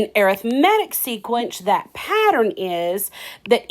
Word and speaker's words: arithmetic: Yes, it's the same word as arithmetic spelled the same, but it's arithmetic when we're talking about a sequence.